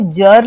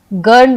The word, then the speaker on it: girl: हमने जी पढ़ा, लेकिन जब हम GIRL लिखते हैं तो हम इसे जर्ल नहीं पढ़ते हैं, हम इसे गर्ल पढ़ते हैं।